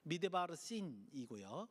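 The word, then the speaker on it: מדבר סין: 어쨌든 신광야, 여러분들 성경에는 똑같이 신으로 적혀 있지만 저쪽 그 시나이 반도에 있는 광야는 신광야, 진짜 씬이에요. 히브리어도 씬 이렇게 발음하는데 씬, 미드바르 씬이고요.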